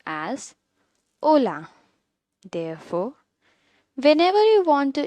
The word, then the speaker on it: hola: Remember, this greeting starts with the letter H, which means it will be silent and the word will be pronounced as hola.